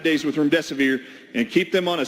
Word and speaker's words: remdesivir: For those of you who had a hard time, there's a lot of hosts that can't say remdesivir. I actually pronounce it, your death is near. Remdesivir. If that helps you remember.